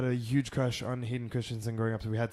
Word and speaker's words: Christensen: Christensen.